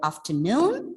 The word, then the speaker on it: afternoon: coffee this afternoon see remember the word afternoon the stress is on the second syllable so we are going